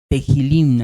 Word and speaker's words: tehilim: Ay, es que no les puse, pero bueno, La palabra hebrea para salmos es tehilim, tehilim, así se pronuncia en hebreo, ¿verdad?